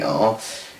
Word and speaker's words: Gardiner: It's gardener, not Gardiner like Tommy Gardiner, which is Gardiner. It's gardener like, you know, with the spelt garden with the Gardiner at the end, all that.